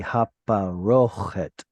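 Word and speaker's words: הפרוכת: And then lastly, this little symbol tells you that the stress is on that O sound. So it's going to be haparochet.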